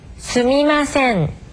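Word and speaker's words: すみません: 수미마센. 네. 이것은 맨 처음에 한 니은 발음과 아주 흡사합니다만 마지막에 한 음절의 길이를 끌어 줘야 되는 그런 차이가 있습니다.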